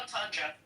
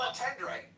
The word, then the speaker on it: entendre: I believe it's pronounced entendre. What is it? I thought it was a double entendre. No, double entendre.